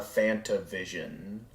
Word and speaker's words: FantaVision: one but I know fantavision is another classic I enjoy say it again uh Fanta Vision like the drink uh that and vision